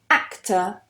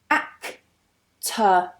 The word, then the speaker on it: actor: The next one, actor, actor. Notice I don't pronounce that R. We have a schwa there.